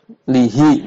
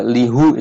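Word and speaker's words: لِهِ: Kalau harus dibaca lihu itu kan berat ya. Dari kasroh ke dhammah itu naik ya, tingkat kesulitan pelafalannya. Berat lihu ya, lebih ringan lihi.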